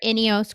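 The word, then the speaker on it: INEOS: with Warner uh Grenadier so Warner inos Grenadier I think is the more proper way to say it yeah so I'm hoping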